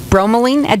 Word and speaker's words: bromelain: had another one that you said that was bromo lean at did I say it correctly yes if you're not aware of pineapple that's where bromine comes from comes from the pineapple stem bromelain is a proteolytic enzyme that means it breaks